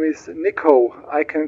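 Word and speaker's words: Niko: name my name is niiko I can spell it for you November India kilo Oscar got it Nicole ready to lift off no you got it wrong my name is niiko I can spell it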